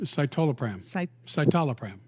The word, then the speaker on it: citalopram: Citalopram? Citalopram.